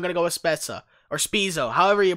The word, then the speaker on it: Spezza: The correct way to pronounce his name is Jason Spezza.